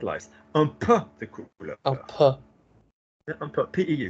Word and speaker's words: un peu: What might be happening is you might be visualizing an E and U pronounced on their own, as in I have had, is j'ai eu, isn't it? J'ai eu. But anywhere else, je veux, je peux.